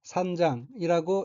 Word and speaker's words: 散々: 둘째 줄 오른편 첫 번째 어휘는 한자가 흩을 산자가 들어있고 산자 뒤에 기호는 앞에 한자를 반복한다는 표시이며 일본어로는 산장이라고 읽습니다.